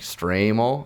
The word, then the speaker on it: Stramel: never seen it before I'm like stram oh okay that sounds that sounds better so that's how I'm supposed to be pronounced my name so that makes more